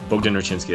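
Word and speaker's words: Bogdan Raczynski: someone that likes Bogden like Bogden rinsky that's how that's how I pronounce it but it's the correct way cuz I worked with a Polish lady I verified that but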